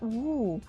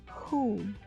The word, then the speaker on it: who: one the first one is who who not woo even though it has w there that is not it is pronounced as who ah the matcha correct who is siapu orang